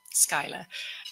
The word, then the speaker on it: Schuyler: And there was George Lee Schuyler, I think you pronounce it, Schuyler, and who was the son-in-law of this Hamilton, and himself the grandson of General Schuyler of revolutionary fame.